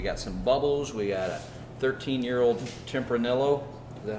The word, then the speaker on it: Tempranillo: a 13 year old Tim pernil oh that how you pronounce that I think so Tempranillo i think the elves are silent yeah that's that's a